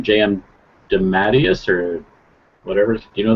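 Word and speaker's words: J. M. DeMatteis: even know how to pronounce his name JM dadus or whatever do you know that Sean how to pronounce his name deas d Matas there you go um so it's a bunch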